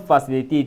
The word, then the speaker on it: facilitate: The word facilitate is divided into four syllables. Flyates that is f e one syllable, c i two syllable, li i the third syllable and t a t e the fourth syllable. The primary stress falls on the third syllable lee which is li.